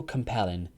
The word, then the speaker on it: compelling: the novel was so compelling it changed my opinion greatly it's one more time that pronunciation is compelling compelling not compelling us that's the stress is on the second syllable so it's compelling compelling